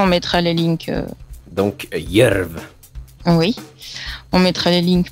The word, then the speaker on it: Djerv: Il vaut mieux dire aux gens parce que en général, on est assez surpris de la prononciation vis-à-vis de ce qu'il y a écrit quand c'est du norvégien. Donc ça s'écrit DJERV, mais de toute façon on mettra les links.